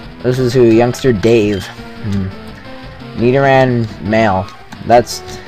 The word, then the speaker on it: Nidoran: Nidoran male. That's, it's poison type. Get ready for one-hit kill city. Nidoran.